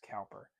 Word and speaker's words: Cowper: Some people pronounce Cowper. I think it's Cooper. And they spelled it weird.